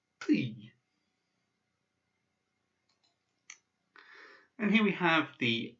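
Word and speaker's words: ты: So this is pronounced ty, ty. And ty means you if you're talking to somebody informally. So like the tu in French. So it's pronounced ty.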